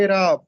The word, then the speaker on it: اعراب: اور دوسرا ہوتا ہے اعراب۔ تو یہ درست تلفظ ہے اعراب، الف کے نیچے زیر لگا ہے اعراب۔ یہ عرب سے بنا